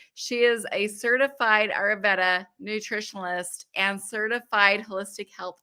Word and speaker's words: Ayurveda: So I actually messaged it to you phonetically. It's Ayurveda. Ayurveda.